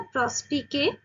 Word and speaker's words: Prospice: प्रोस्पाइस एक Latin word है जिसका प्रोनाउंसिएशन है प्रोस्पीके।